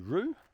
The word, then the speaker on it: Whroo: It's definitely worth the effort to come out to Rue. That's spelled W HR O.